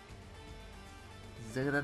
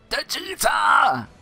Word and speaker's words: Djeeta: Djeeta! Djeeta. Or Djeeta. The D is silent, hillbilly.